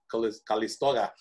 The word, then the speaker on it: Calisto: i clicked on that one right the callisto callisto there that's the correct pronunciation so notice i can either look on